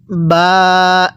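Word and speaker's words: باء: এরপরে আমার সাথে পড়ুন বা। হ্যাঁ, কিভাবে পড়ব? বা। এই বাটা দুই ঠোঁটের মাঝখান থেকে উচ্চারণ হবে।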